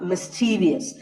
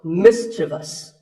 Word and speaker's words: mischievous: Sometimes people also mistakenly insert letters or sounds that are not there, like in the word mischievous. This is not mischievous. There is no I after the V. The last syllable is just thus, so mischievous.